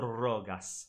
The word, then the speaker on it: rogas: Faciam cor rogas. Rogas. Rogas. The emphasis should be on the A.